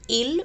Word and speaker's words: ils: plural they which is ills and else they are pronounced just same ill and l we don't pronounce the last consonant s so l and l